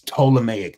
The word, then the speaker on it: Ptolemaic: It's Ptolemaic. The P is silent.